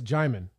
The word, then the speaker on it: Djimon: When we talk about the people in Benin, like, you're familiar with Djimani Hansu, the guy from Blood Diamond? Oh yeah, I've actually interviewed him. Really? Yeah, it's Djimon.